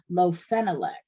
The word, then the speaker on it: lofenalac: It's called lofenalac, and that's spelled LOFENALAC.